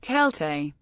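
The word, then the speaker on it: Celtae: time of Julius Caesar when Latin Sela was pronounced kelte an early example of this is a short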